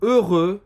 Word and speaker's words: heureux: Heureux, que significa feliz. Faz a boca do O e fala E.